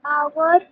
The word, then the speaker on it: hour: Okay, because there are many words in English which will start with a Ma'am, like consonant letter. our H, O, U, R. Yes, exactly, exactly. Okay, HOUR, that's what I was about to tell you. Very good, Samshita. Like in words like our, honest, okay? Just see the word begins with the consonant alphabet.